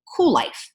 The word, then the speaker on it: Kuel: And Kuel is spelled all cattywampus with a K, so it's Kuellife. And of course, it is a play on the whole word cool and how we all